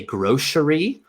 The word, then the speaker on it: grocery: I'm from would say grocery. So that c becomes like an sh sound.